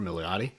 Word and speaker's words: Milioti: For Milioti? How do you pronounce the last name?